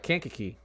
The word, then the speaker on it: Kankakee: Kankakee.